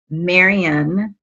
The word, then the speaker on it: Marion: to introduce to you marian i did get the pronunciation correct correct no you got it perfectly you got it perfectly i tell people rhymes with aquarian or librarian perfect perfect it is